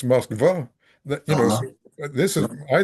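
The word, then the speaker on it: Москва: I studied Russian in high school for 2 years, and in Russian it's Moskva.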